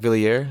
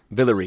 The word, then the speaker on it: Villiers: Villiers? Is that how you pronounce it? Villery. Like Hillary. Oh, but with a Vil.